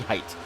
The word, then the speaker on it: Height: I always pronounce it Haight and Het, and it's actually Height, just like the height of someone.